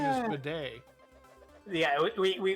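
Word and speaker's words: Bede: yeah whose name is midday yeah we we we decided that b-e-d-e is pronounced for the day and uh and that's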